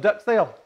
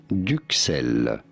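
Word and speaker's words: duxelles: french words d-u-x-e-l-l-e-s and that's supposed duck sale in france we pronounce it as duke cell and what language is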